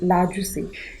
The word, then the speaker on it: largesse: The first word is largesse, pronounced as largesse.